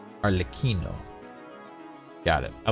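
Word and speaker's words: Arlecchino: the yalon story Quest you do say the L Okay so arloquino arlikino got it I like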